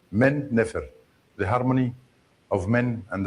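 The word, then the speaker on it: Men-nefer: Memphis is uh Min Nefer and the Greeks pronounce it Memphis. Min Nefer.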